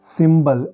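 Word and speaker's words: symbol: apply नहीं होता वो वाला जैसे ये है सिंबल एस ए एम बी ओ एल सिंबल यहां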